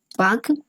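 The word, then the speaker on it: Palk: क्या है, पाक स्ट्रेट, पाक स्ट्रेट। पाक स्ट्रेट को अगर इंग्लिश में लिखना हो तो ऐसे लिखिएगा, इसका एल जो होता है वो साइलेंट रहता है।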